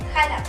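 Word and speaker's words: Xalapa: La X en el español de México también puede sonar como una J, por ejemplo en la palabra México o bien en la palabra Jalapa. En ambas palabras la X suena como J.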